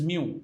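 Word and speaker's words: μ: is represented by Greek letter this this is pronounced as Mu mu mu somebody writes this as n or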